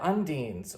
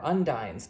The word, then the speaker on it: Undine: in pulling that off there are undeans or undynes depending on you know how you choose to pronounce that these are the water